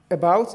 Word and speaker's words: about: have you seen that this about is a preposition and it is a two syabic word a about that's why and the you know it's a preposition as I said the the stress will be on the second syllable so it means that